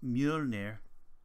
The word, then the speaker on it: Mjolnir: As some people know from the Marvel comics and most recently Marvel movies, it is pronounced Mjolnir in Icelandic.